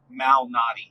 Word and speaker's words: Malnati: Uh, Lou Malnati.